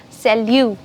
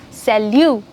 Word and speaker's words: salut: French for hi hey what's up it's called Salu yes salute very good then comes good afternoon for good